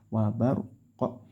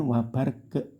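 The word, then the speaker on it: وبرق: tetap sesuai huruf aslinya kalau qof ya wabarqo gitu ya wabarqo Nah bukan wabar ke tapi Q wabar qo terus yaj'alu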